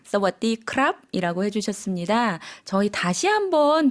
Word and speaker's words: สวัสดีครับ: 사와디카, 사와디크랍 이라고 해주셨습니다. 저희 다시 한번 들어볼게요. 조금 천천히 발음해 주시겠어요?